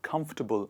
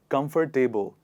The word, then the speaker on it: comfortable: People think that they have to choose the same pronunciation in the word comfortable, and so they pronounce it like this: comfortable, comfortable. But that is not right. How do we go about this one? It is tubble, comfortable, comfortable, comfortable, not comfortable.